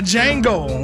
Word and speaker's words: Django: The D is silent. Got myself a Django.